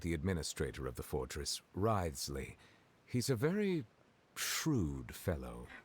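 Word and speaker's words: Wriothesley: personal dealings with the administrator of the Fortress ryley he's a very shrewd fellow ryley that's how you pronounce his name hi Kratos yeah we heard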